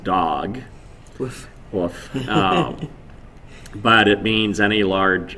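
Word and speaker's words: דג: and this creature uh it's the word it's pronounced dog but it means any large anything that swims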